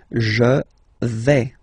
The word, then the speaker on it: vais: Okay, so remember, final S not pronounced here. Je vais. Okay, when you combine this A, I, you get the sound E, really open.